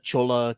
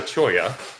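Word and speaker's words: cholla: it is the uh Chola Cactus oh the Chola cact yeah the Chola um which is actually called a choya um so the Cho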